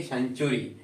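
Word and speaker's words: century: Spelling के अंत में TURY का कॉम्बिनेशन अगर किसी भी स्पेलिंग में किसी भी इंग्लिश के वर्ड में अगर बन रहा है उसको पढ़ेंगे सेंचुरी।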